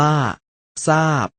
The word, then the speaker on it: ทราบ: เรา มา ดู การ ออก เสียง ซ โซ่ เมื่อ พยัญชนะ ต้น เป็น ท ทหาร ร เรือ กัน นะ ครับ เช่น คำ ว่า พุทซา พุทซา อ่าน ว่า พุทซา ซาบ ซาบ อ่าน ว่า ซาบ เมื่อ น้อง ๆ ได้